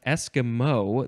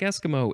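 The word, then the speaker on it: esquimau: looks like it's pronounced Eskimo the first syllable is emphasized Eskimo um and yes you would you would it sounds like Eskimo it's not spelled like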